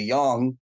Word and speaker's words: yang: digitization yeah and uh I always say yin and yang because I feel like if I say young how do you pronounce